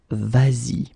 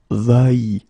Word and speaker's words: vas-y: to modify it and put this s here just to get the sound vas-y instead of va-y.